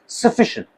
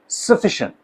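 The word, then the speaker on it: sufficient: है इट is what सफिशिएंट सफिशिएंट सफिशिएंट यहां पर कोई सिलेबल है ही नहीं यहां वोवेल साउंड है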